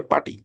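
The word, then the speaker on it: PuTTY: যেমন আপনি গুগ এ যদি সার্চ করেন যে পার্টি লিখে বাংলাদেশে এটা অনেকে উচ্চারণ করে পুটি একচুয়ালি এটা পার্টি ওকে সো এইখানে আপনি এই যে পার্টির এডিশন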